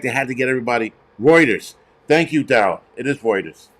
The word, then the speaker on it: Reuters: have whatever but um pronounce roters now everybody's now everybody's an English scolar it's called Reuters stupid but whatever um